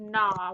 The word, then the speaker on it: gnaw: So we have GN, so the G is silent, N, and then AW says ah, we have the word gnaw.